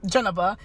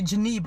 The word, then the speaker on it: Jeneba: India, if they see that word, they're gonna pronounce it Kamala. It's like, I'm Janaba, my sister is Hawa, and I have another sister is Adama.